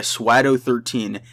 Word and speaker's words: Swado: The current world record is around 225 by Swado13. And no, I didn't accidentally say Shadow or I messed that up or something. It's literally Swado.